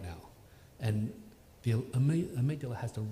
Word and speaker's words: amygdala: it's actually specifically the amygdala and it's spelled like Amy with a G d-a-l-a and so I used